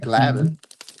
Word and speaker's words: Glavine: Tom Glavine, as the Beast would say, but it's pronounced Glavin.